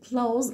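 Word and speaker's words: clothes: واول حاجه كده اهو بالنسبه لنطق كلمه close اللي هي الملابس بلاش ننطق التي والاتش دول نعتبرهم مش موجودين خالص عندنا والامريكان اكسنت بقول كلوز واحنا دايما بننطق بالامريكان اكشن فاحنا خلينا نقول ان الكلمه دي بتاعها في الامريكان بقول لوز كلوز عشان الناس اللي هي بتعمل فيها خطا في النطق بتاعها بتقول لا حبايبي احنا بنقول close هنعتبر ان التي والاتش دول مش موجودين وهننطق ساوند على طول بقول close دي كانت ايه العنوان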